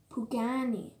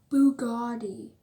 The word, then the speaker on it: Pagani: A lot of the people I teach what this car is can't pronounce it, or sometimes just call it Bugatti.